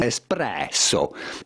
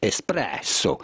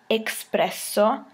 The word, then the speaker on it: espresso: and tight coffee preparation espresso espresso so when you pronounce espresso there is no x in the word so you don't say expresso just espresso it means pressed out